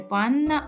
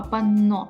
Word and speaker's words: панно: Пенні Вілла дура перепрошую не панна а панно Так в нас буде цікавити саме це слово з наголосом на О тут ще є слова